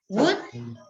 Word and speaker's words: would: would could no okay in this words the elf is a silent letter would could okay that would that